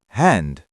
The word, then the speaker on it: hand: Number 2, hand. In Afrikaans, hand. Note the sound change. It's short. Hand.